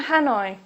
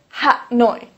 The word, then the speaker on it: Hanoi: Please don't say Ha-noi. Please say Hanoi.